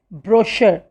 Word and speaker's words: brochure: n t i q u e its correct pronunciation is antique okay we speak like antique means very old next word is brochure broch you are e brochure it means a